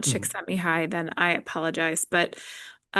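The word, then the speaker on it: Csikszentmihalyi: I think that it's pronounced chick sent me high.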